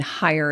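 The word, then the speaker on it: Hyer: my business name and hire is spelled h y er that's my last name but talking toddlers has been used by a variety of people across the internet.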